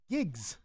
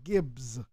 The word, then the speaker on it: Giggs: UK America gigs yeah gigs I'm saying it right right yeah I'm not saying Gibbs gigs it sounds like I'm